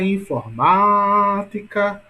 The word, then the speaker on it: informática: Então, observe, pessoal, que, por exemplo, a palavra informática, qual é a sílaba mais forte? Vamos lá. Olha a informática, ou seja, ma é a mais forte, não é isso? Portanto, a sílaba tônica de informática é ma.